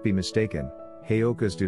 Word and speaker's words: Heyoka: Pronounced Heyoka, Heyoka is a Lakota word meaning fool or sacred clown because of their ability to create healing from humor.